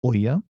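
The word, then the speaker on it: ʻo ia: The okina o with ia is pronounced oya, right?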